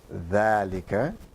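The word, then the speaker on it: ذلك: Then he say note, dhalika is pronounced dhalika, but it is written without the alif.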